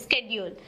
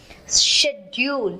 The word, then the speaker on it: schedule: not scheduled it is scheduled you should keep yourself updated the pronunciation has changed but i find that it hasn't changed at all actually schedule schedule is the british pronunciation schedule is from america that's the effect we